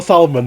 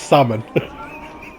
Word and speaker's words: salmon: I was literally reading it like phonetically. No, it's not a salmon, Matty. It's salmon.